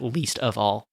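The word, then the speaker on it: Leesta Vall: least of all records which is spelled Lista l-e-e-s-t-a space v-a-l-l Vol but it sounds like least of all right and they do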